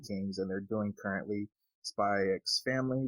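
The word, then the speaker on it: SPY×FAMILY: and they're doing currently spy x family which you don't pronounce the x which kind of always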